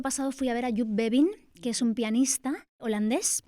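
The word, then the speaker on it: Joep Beving: fui a ver a Yup Bevin, que es un pianista holandés que me fascina, pues en la línea de Nils Fram. Maxister, B Mertens, Yup Bin se llama, se escribe Jo Bin y es maravilloso y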